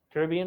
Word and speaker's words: Caribbean: How do you say Caribbean, Mr. Smith? Caribbean or Caribbean? Why do you say it like that? Huh? Why do you say it like that? Because it can be said either way.